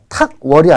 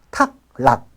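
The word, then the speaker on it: 卓犖: 자, 탁월이 아니라 탁락. 그 탁자가 빼어날 탁. 락자 역시 빼어날 락자입니다. 물론 뜻이야. 탁월이 맞죠? 그 뜻은 탁월한 민족심리가 맞지만 도금은 아니야. 도금은 탁락이라고 읽어야 맞습니다. 13번 가겠습니다.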